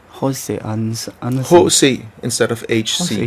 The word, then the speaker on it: H.C. Andersen: And because our alphabet is pronounced different, we say H.C. Andersen. Jose Andersen.